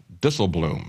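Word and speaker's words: Dijsselbloem: Eurozone Finance ministers Jurgen DL Bloom I believe is the way he pronounce his name it's dutch but what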